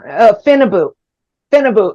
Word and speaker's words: Phenibut: Phenibut, if I'm saying that right. It's spelled funny, but it's like PHENBUT.